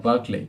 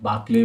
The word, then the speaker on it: Berkeley: Then we have Berkeley, not Barclay, but Berkeley. I think I might be spelling it or pronouncing it wrong, but Berkeley is again